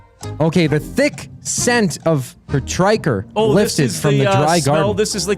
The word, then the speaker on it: petrichor: I've read this word, and in my head, I've always said it petrichor. Petrichor? But it's petrichor.